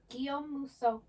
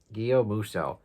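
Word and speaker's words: Guillaume Musso: Guom Muso. Guom Muso. Guom, like home without the H.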